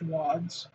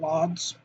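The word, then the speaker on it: Łódź: Because I was told that this is pronounced wads, not lods. That's Warsaw, so something like that. Katowice. So the W's are V's, and the L with the line in it is a W.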